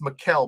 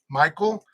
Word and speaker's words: Mikhail: and and then i it's pronounced me mike mikelle mackel and some other in some other i guess places but the way though as i said the way you have it spelled out it's pronounced mikhail but you know if if where you're from dominican republic is pronounced michael okay you know that's